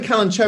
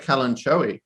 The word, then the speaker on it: Kalanchoe: cherry actually to be honest i keep saying kalanchoe because i made some content for always kalanchoe